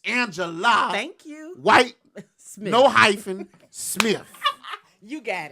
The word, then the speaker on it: White Smith: how you doing sister Miss Whit Smith is doing fantastic Miss White did I just say it wrong you did what did I say Smith it's white Smith I don't know people